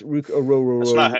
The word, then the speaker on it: Ruke: but yeah perfect thank you um yeah it's ruk a that's how he's not in my top five